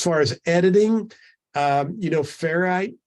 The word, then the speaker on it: Ferrite: as editing you know ferrite that I talked about are fair ferrite ferret I think's the correct pronunciation of that um you